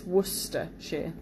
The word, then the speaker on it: Worcestershire: of looks like it's worse sister but it's woodster sure so apologies for those who found that quite